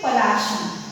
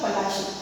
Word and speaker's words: Palashi: Now children, here the spelling of Plassey is Plassey, but as per the anglicized pronunciation, it is Palashi. It is the anglicized pronunciation. It is the Palashi.